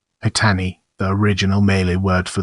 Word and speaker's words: Patani: paty Pat Malay Sade patani pronounced as Pon with a very brief first syllable and stress on the second syllable patani the original melee word